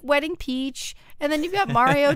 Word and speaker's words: Wedding Peach: that's so cute joey you have to say it correctly it's wedding peach oh that's right that's correct it's sweating peach you are right wedding peach yeah you got to